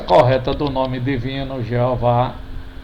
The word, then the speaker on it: Jeová: A pronúncia correta do nome divino, Jeová, é a pronúncia mais conhecida do nome divino em português,